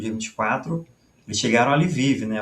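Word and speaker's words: Lviv: Eh, nesse nesses bombardeios aí do dia 23 pro dia 24, eles chegaram a Livive, né? O Livov, né? que é a a pronúncia polonesa, né?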